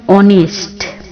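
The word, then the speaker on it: honest: শব্দের পূর্বে এ না বসে এন বসবে যেমন অনেস্ট অনেস্ট ম্যান এন অনেস্ট ম্যান এয়ার এয়ার অর্থাৎ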